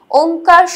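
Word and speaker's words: ওঁ: এই চন্দ্রবিন্দুর জন্যই কিন্তু একটা ময়ের উচ্চারণ হয়, ওম, কথাটা ওম হয়।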